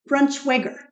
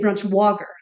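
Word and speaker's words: Braunschweiger: in Northern Ohio and he pronounced it like super German like brush weiger yeah yeah it's apparently supposed to be pronounced brunchweiger schweiger schwager and we say brunch wagger that's true yeah I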